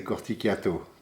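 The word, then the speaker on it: Corticchiato: called uh mac antoine corticato i'm not pronouncing it right because he's from corsica and i'm italian and so in corsica they don't pronounce it the italian way they would say corticato but that's how it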